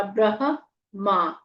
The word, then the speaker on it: ब्रह्मा: अनुष्टुप छंद आदित्य हृदय भूतो भगवान ब्रह्मा ब में र है आधा ह म में आ की मात्रा ब्रह मा ब्रह्मा देवता ब पूरा बोलना है